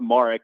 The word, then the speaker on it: Marek: Yes, so my last name is pronounced Marek, but to be honest with you, like you said, Connor, it happens so much where it's Marek that I've just kind of accepted it both ways.